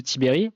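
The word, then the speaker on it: Tiberj: et Vincent Tibere al çaécrit Tiberge mais ça se prononce tibée qui est donc chercheur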